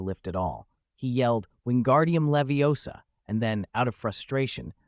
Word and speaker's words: Wingardium Leviosa: It's wingardium leviosa. You draw out the gar and emphasize the O in Leviosa.